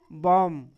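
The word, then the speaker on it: bomb: B silent हो गया। यहां भी है। इस वर्ड को क्या पढ़ेंगे? बम।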